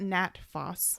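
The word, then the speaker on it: Nat Phos: indigestion was number ten and they call it nat foss n-a-t-p-h-o-s and i think that's short for uh i don't know how to pronounce it natrum phosphoricum cool anyway sell salts number 10.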